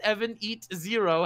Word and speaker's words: Evanito: Noble's ever-present laughter, or even the passionate love that Evanito, pronounced Evan Eat Zero, has for What?